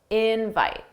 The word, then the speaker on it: invite: And notice how invite, the stress is on in. That's the stress syllable. Dada, invite, invite.